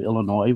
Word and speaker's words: Illinois: Jill, that I lived at the University of Illinois when I was 7 years old for 1 year? No, I didn't know that. Oh, that's incredible. Champaign Urbana. Yes. And you pronounced it right, the Illinois, no S.